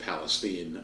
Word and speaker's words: Palestine: on in East Palestine it's pronounced Palestine Ohio and there's that's still in courts and there's still millions of hours involved.